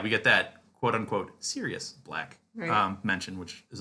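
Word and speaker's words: Sirius: aaban and we get the official pronunciation of serus black because he's like quote literally the word serious because I know there's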